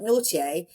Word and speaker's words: Nortier: But nautier which is actually spelled like not naughty but n very French n o r t i r but naughtier they feels